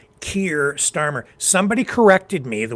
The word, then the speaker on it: Keir: Um So, yeah, I I've been saying Care. It just comes out. I know it's Keir.